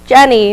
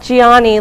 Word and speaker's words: Jenny: my name is Jenny pronounced Jenny not Gianni like some Italian man which is the opposite